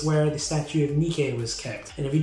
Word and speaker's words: Nike: fact about that though nikkei is spelt nike if you think that's a coincidence you are completely wrong nikki is the god of victory the brand nike puts